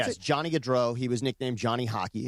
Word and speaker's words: Gaudreau: I hope I'm pronouncing their last name right, Gaudreau, is that how you pronounce it? Yes, Johnny Gaudreau.